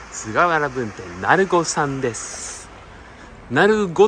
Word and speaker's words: 鳴子: 分店なごさんですなごって読むのはねえこれはこのあの当地のねえ落とし飯した方が皆さんそのようにねいわゆるなりというやつですかなります